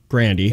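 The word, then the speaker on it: Grande: Or no, Grandy. Okay. Which is how you pronounce it.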